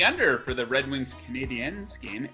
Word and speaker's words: Canadiens: He likes the under for the Red Wings Canadiens game. Les Montréal Canadiens, the French version of pronunciation.